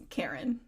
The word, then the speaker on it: Keren: gasps] and the your last name it's Karen Karen is the last name.